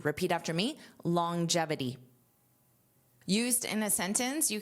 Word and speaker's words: longevity: Now, notice that pronunciation, longevity. So, you hear this j sound even though it is not there in spelling. And that's to help transition between this long this g sound, longevity, gevity, longevity.